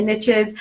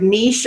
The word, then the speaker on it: niche: Now, you might have heard the saying, the riches are in the niches. I don't know if you pronounce this word niche or niche. I hear it both ways, but a rose by any other name smells just as sweet.